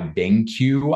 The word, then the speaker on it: BenQ: They're made by BenQ, I believe is how you pronounce it, B-E-N-Q.